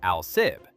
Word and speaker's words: Alsib: That was the idea behind Alsib, pronounced Alsib, the Alaska-Siberia Air Route.